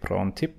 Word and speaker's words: Prontip: Is that the correct pronunciation? Prontip Thank you.